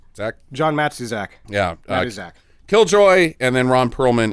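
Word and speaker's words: Matuszak: name mat Z Zack John matu Zach yeah mat Zack killjoy and then Ron Pearlman is Zeno um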